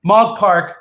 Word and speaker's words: Mog Park: all about it right now everybody please welcome mog park to live with honor how you doing mom